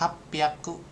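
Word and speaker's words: 八百: Kalau kayak 600 berarti ropyaku gitu kan. Kada su kecil sama h-nya jadi pi jadi p rop piaku atau 800 hapaku.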